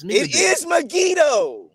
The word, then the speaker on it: Megiddo: says that solomon built nigadoo no it's not megiddo brother it's not it's me it is megiddo it's not brother yes it is like you